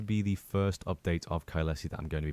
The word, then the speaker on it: Caelesti: Or as I just discovered in this video, we don't pronounce it Ksti to begin with. It was Kylesi.